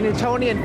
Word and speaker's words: Newtonian: Newtonian spell that word n e w t o n i a n oh like Newton yes Sir Isaac Newton